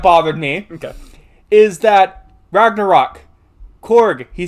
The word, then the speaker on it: Korg: So Korg, his name's Korg, right? Korg is Okay, I keep saying his name wrong. I keep saying Krog.